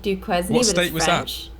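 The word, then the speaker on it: Duquesne: I haven't it's called dukee University it's spelled D du q e s n e it's like Duke quen in Pennsylvania oh that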